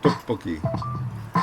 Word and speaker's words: tteokbokki: But you can get these tteokbokki. It's hard to pronounce, first off. The T is like a hard D. So it's not Tteokbokki.